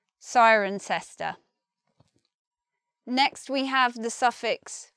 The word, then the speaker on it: Cirencester: I don't know, but we say Cirencester. And locals of the place, some of them will say sister. Sister. Just similar to sister.